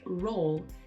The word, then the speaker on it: roll: You can hear in Li Bingbing's pronunciation of roll that the lip corners come forward to make a U.